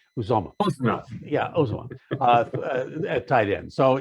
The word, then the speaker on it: Uzomah: I always get that name wrong. Uzomah.